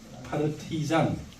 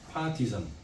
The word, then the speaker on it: 파르티잔: 그래서 소련 공산당에 기쁘게 가입을 했고, 그 다음에 빨치산이라고 하는데, 이 빨치산은 그 당시에 빨치산이라고 하는 용어는 영어로 말하면 파르티잔, P-A-R-T-I-Z-A-N, 파르티잔. 이게 발음하기 어렵거든요. 파티잔.